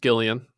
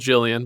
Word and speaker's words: Gillian: did not have Gillian Jacobs and it is pronounced Gillian it looks like it's spelled Jillian but it's pronounced Gillian I've done my research